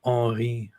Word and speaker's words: Henri: an early teenager and I learned how French people pronounce the name Henry, which was like Henri.